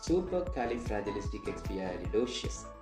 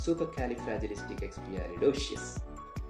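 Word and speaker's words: supercalifragilisticexpialidocious: സൂപ്പർ കാലിഫ്രാജിലിസ്റ്റിക് എക്സ്പിയാലിഡോഷ്യസ്. സൂപ്പർ കാലിഫ്രാജിലിസ്റ്റിക് എക്സ്പിയാലിഡോഷ്യസ്.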